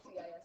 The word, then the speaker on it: cis: wrote in their silly CIS form. Cis. Kiss. We could say kiss. There's a hard C there.